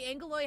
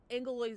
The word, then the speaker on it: Angeloi: So it's spelled Angeloi, but everyone pronounces Angeloi like angel, and they have halo.